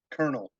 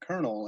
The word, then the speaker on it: colonel: words that just a colonel colonel and c-o-l-o-n-e-l um colonel we knew that they meant the same thing but we just assumed like you read c-o-l-o-n-e-l and you read that kernel and it's you know